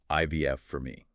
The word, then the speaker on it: ivf4me.com: That's pronounced IVF for me.